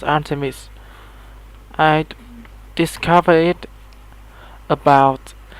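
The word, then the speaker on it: Art3mis: the blog of a female Gunter named Artemis, pronounced Artemis.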